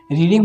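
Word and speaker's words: read: तो यहाँ पर रीड, वी हैड रीड, रेड verb की थर्ड फॉर्म रेड, लेकिन स्पेलिंग सेम रहती है, लेकिन उसका जो हम लोग पढ़ते हैं वो अलग हो जाता है, रेड हो जाता है, स्पेलिंग सेम रहती है।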